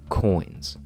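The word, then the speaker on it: quins: shape the equilateral triangle we term these triangles coins plank coins we spell that qu i ns and these plank coins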